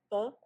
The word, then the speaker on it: pho: Um I have a recipe for homemade fu that's spelled pho pronounced fu.